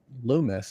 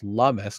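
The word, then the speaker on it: Lummis: Senator Cynthia found out it's not Lumis it's lumus because apparently rhymes with hummus uh reintroduced the Bitcoin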